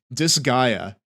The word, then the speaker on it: Disgaea: It's pronounced Disgaea.